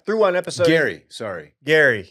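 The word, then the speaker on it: Gerry: one episode Gary sorry Gary it's spelled g e r r y yeah it's very confusing Double R too but it's Gary okay yeah yeah I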